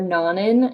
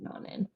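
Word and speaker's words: Nonin: So yeah, we are Nanin Medical, and one kind of easy way to remember Nanin and how to say it is we come from non-invasive measuring devices. That's what our line of business is in. So if you think non-invasive, you'll think Nanin.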